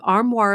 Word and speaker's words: Armoire: Right now, our listeners can give Armoire a try and get up to 50% off their first month.